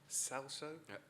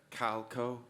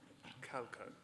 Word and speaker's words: Calco: How on earth does one pronounce this? Salso? Calco, Your Eminence. He's Indian. Calco.